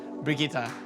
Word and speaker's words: Brigitte: The new hero's name is definitely Brigitte, like spaghetti. For me, I pronounce it Brigitte.